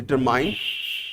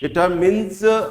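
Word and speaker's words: determines: डिटर्मिनर means a word which डिटरमिन्स, सब गलती से कभी कभी आप प्रोनाउंस करते हैं डिटरमाइन, डिटरमिन्स होता है, डिटरमाइन नहीं होता, और डिटरमिनर्स होता है, डिटरमाइनर्स नहीं होता है।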